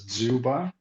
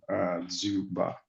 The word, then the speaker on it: Dzjuba: It's pronounced as Dzjuba. That J confuses a lot of people, but it's a U, Dzjuba, basically. Dzjuba. Yeah. Awesome. Dzjuba, welcome.